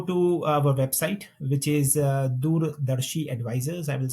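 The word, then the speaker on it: Doordarshi: they can go to our website which is dur Dari advisors I will spell it for the folks because it's a indan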